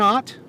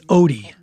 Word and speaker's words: Ott: Dan Ott? It is. Mr. Ott, my name is Gilbert King, and I am working on a criminal justice report. I was also pronouncing his name wrong. It's Odie. Dan Odie.